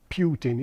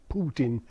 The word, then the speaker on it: Putin: Notice I say his name the Russian way. It's not Putin, it's Putin.